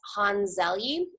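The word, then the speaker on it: Hans Selye: So this man, his name is, I have to look at the pronunciation because I always mess it up. His name is Hans Zelye, and so he was an endocrinologist in the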